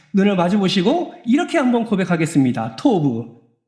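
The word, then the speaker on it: טוֹב: 토브 발음 잘하셔야 돼요. 토만 하면이 희한하게 오해가 됩니다.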